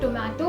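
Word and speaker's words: tomate: Alphabet T यानी कि ते को हमेशा त प्रोनाउंस किया जाता है, इसे आप कभी भी ट नहीं बुला सकते। जैसे इंग्लिश में टोमेटो होता है, स्पेनिश में टोमाटे होता है।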